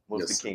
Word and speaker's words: Mustaqim: So you've been blessed to be bestowed the holy name of Mustaqim. Did I pronounce it right? That's right, Mustaqim. All right, Mustaqim.